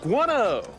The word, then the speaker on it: guano: making guan guana jokes is it is how you say it's gone oh like that iguana guano that sounds so familiar